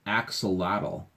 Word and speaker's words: axolotl: And in case you're wondering, my name is pronounced axolotl.